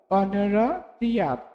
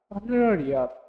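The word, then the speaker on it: honorarium: আর যখন এইচ এর উচ্চারণ হবে না, যেমন অনারারিয়াম, অনারারিয়াম, এই কারণে দেখো এইচ এর উচ্চারণ এখানে হয়নি,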